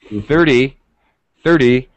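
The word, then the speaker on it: thirty: pitch it's stretched it's a little longer sound 30 30 e e the second syllable the pitch goes down and it's very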